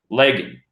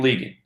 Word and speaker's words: Legan: Festival a 19 year old named Santino William legging League Harvey pronounced Santino William Leegin and what's funny about that is again he's